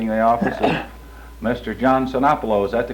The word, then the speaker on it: Sinopoulo: privilege now sitting in the office mr john cenapolo is that the correct pronunciation yes sir here in the midwest building